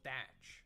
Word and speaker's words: Teach: known as Blackbeard and he was called Edward Teach and pronounced Edward thatch Oda manipulated his name